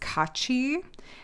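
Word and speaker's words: 까치: And uh this in Korean is pronounced kachi.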